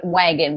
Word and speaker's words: Wag'n: is linked there, but it's Happy Trails and Wagon, but it's spelled Wagn because I was trying to shorten it Tails.